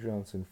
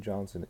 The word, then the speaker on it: Johnson: Bokennon was a pronunciation given the name Johnson in the English dialect.